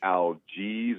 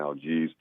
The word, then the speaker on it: Algiz: It's also called an algiz or algiz, I think is how you say it. It's an algiz.